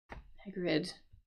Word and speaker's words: Hagrid: Hagrid, like that.